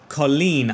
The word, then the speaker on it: Colin: It's actually pronounced Colleen, I just heard from the commentator, which isn't too far off what I've been saying, as Antiste.